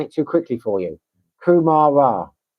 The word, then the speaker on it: kumara: Kumara.